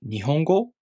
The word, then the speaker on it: 日本語: The word 日本語 has 4 moras.